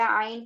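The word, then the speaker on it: ع: to make sure to pronounce the iron properly it is pronounced from the middle throat and also on iron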